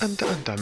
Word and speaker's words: Hunter x Hunter: Alors, Hunter x Hunter, ouais je sais, les puristes me diront oui ça se prononce Hunter Hunter, mais je m'en fous,